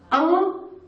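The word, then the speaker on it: ॐ: But the actual pronunciation is A-U-Um. So when you say Om, it's just in Sanskrit or in Hindi, it's just one word.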